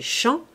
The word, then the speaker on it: Jean: Jean-Mathieu il va en ouvert de Jean la prononciation du pays fait chant on l'appelle chant Mathieu notre homme se laisse